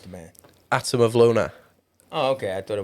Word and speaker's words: Atom of Lunar: different than when I say it I say Adam of Luna you know cuz that's how I spell it pronounce how you how you pronounce the manand atam of Luna oh okay I thought it was different you